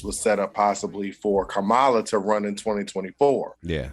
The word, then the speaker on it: Kamala: So I do want to make a slight correction because I was joking at first, but just so we know, it's Kamala. That's how you pronounce my it.